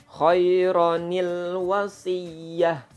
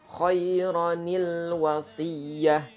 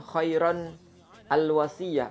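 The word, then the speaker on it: خَيْرًا الْوَصِيَّةُ: Contoh yang kedua, khaironil wasiyah. Khaironil wasiyah. Jadi dibaca nil, bukan khairon al-wasiyah, bukan khairul wasiyah. Keliru ketika kita membaca khairul wasiyah. Khairul wasiyah itu keliru, tapi yang betul adalah khaironil wasiyah.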